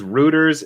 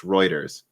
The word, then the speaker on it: Reuters: let me see here rob jim says rooters is pronounced reuters is it it might be